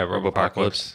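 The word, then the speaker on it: Robopocalypse: to and right filming Robo apocalypse am I saying that right yeah Robo apocalypse yeah it sounds like it's got too many syllables yeah he is like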